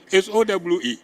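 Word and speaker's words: Sowe: Those are colonial pronunciations, and we continue on using them. Huh? And I saw another Tibabu, S-O-W-E.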